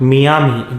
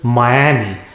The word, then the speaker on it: Miami: of the us next it is not miami it is miami miami is a city